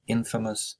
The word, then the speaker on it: infamous: knows the word famous infamous pronunciation is infamous means to be famous